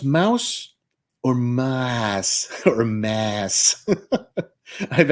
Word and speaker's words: Maus: that's how it's spelled art spiegelman wrote and Drew uh a New York best-selling book titled Mouse so I know that that's how it's pronounced the amount of people